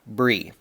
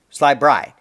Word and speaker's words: Bry: It rhymes with fry. So his name is Sly Bry, not Bree. Okay, so Mr. Sly Bree. Or Sly Bry.